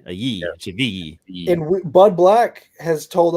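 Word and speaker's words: Chivilli: Don't say it like Goodman, CVG. Like, I don't know why he says it that way. Chavi. The L is a ye. Chavi.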